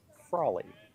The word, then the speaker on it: Frawley: Frawley corrected on the pronunciation. Should have picked up on that. Frawley.